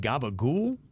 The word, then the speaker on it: capicola: conversation was around this vid said you say Gaba ghoul if you're Italian and Kev copacolo is pronounced gabagool question mark if he says it's weird isn't